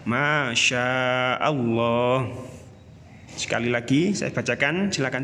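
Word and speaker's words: ما شاء الله: Selanjutnya, masya Allah terdiri dari beberapa huruf, yaitu mim, alif, kemudian shin, alif, hamzah, selanjutnya alif, lam lagi, dan ha. Sehingga terbaca masya Allah.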